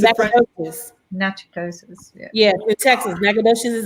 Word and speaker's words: Natchitoches: It's a French word. Okay, so it's Natchitoches. Yes. Remember, we have a sister city. It's a French. Natchitoches.